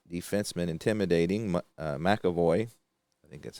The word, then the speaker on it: McAvoy: That's going to be an inside shot with the right defenseman intimidating McAvoy. I think that's how you pronounce that. McAvoy. McAvoy, yep.